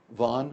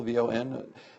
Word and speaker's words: Vaughan: actually how do you pronounce her name bro vaughn it's a single syllable v-o-n the the welsh have this thing about wanting